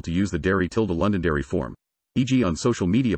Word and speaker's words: Londonderry: its BBC counterpart except the word Londonderry in which the first six letters are silent when performing in the